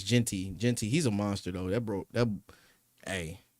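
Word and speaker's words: Jeanty: Yeah, I was just thinking how to pronounce his last name. I was like, is it Genty? Jonty? Yeah, I think it's Genty.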